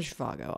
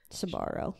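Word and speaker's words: Schiavo: you say that em it's not shago obviously it's sharo sharo Terry sharo whatever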